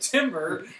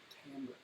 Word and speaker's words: timbre: so we always call it timbre because that's how it's spelled. Like, what is the timbre of your voice? It's pronounced timbre.